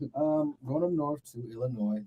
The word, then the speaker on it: Illinois: say this is a test how do you pronounce the state that Chicago's on Illinois right yeah Illinois who's that Illinois I'm dropping bodies I don't